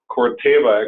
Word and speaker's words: Corteva: You probably haven't heard that name yet, but Corteva, actually, I should pronounce it correctly, is the new company that